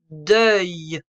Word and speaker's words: deuil: Bien, premier mot, le deuil. Le, c'est un nom masculin. Le deuil. On entend le son œil.